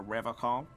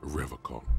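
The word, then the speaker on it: Revachol: to stay strong for river call he pronounces rivercon with a hard k unlike other people serious question time this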